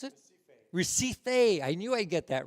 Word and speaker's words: Recife: Lightness, peace song, Recife, is that how you pronounce it? Recife.